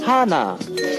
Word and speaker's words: Hannah: Hi Kevin Oppa, it's Hannah, pronounced Hana.